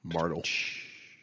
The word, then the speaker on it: Martelle: Yeah, like the E in my last name. Call back. Martel.